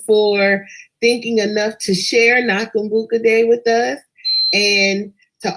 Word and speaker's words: Nakumbuka: Nakambuka. So we've been saying this all day. Oops, see, and I spelled it wrong. Okay, hold on. I've been saying it wrong. Nakumbuka.